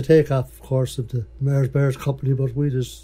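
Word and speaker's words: Mahers Bahers: Bears it's a takeoff of course of the Mars Bears company but we just spell it m a h e r s b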